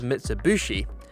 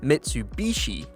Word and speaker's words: Mitsubishi: some reason a lot of us in the UK refer to this brand of car as Mitsubushi rather than Mitsubishi I don't know why